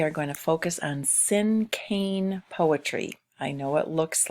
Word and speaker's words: cinquain: lesson today we are going to focus on sim cane poetry I know it looks like it might be pronounced in Queen but it is pronounced in